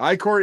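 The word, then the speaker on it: ichor: oh by the way all the other podcasts pronounce it icker I'm just throwing that out that's what I'm saying not iore as was thrown at us several times iore is correct though technically but yes I think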